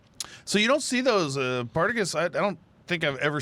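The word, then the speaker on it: Partagás: Partagas? That's the way I say it. I Partagas. put the emphasis on the wrong syllable there.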